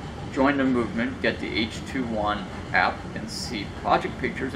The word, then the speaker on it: H2ONE: here it h2 and as they pronounce it out and lettering as h 21 calm you can see